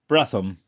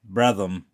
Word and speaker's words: Bretonham: We kept no end of state at Bretonham. Pronounced Bretham. Brethom.